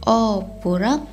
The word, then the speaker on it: opurak: Walaupun ejaan dia opurak, tapi sebutan dia opurak. Dia tidak emphasizekan huruf o di depan tuh.